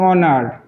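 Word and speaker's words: honour: এন আমরা যদি আরো কিছু শব্দ দেখি যেমন অনার এইচ ও এন ও ইউ আর অনারেও এইচ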